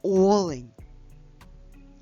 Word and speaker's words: олень: Олень з наголосом на першому звуку олень.